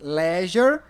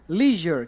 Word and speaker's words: leisure: Essa palavra tem duas pronúncias, leisure ou leisure, que é lazer.